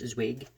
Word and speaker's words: Zweig: yesterday by Stefan Z I think it's pronounced zwig uh an Austrian Jewish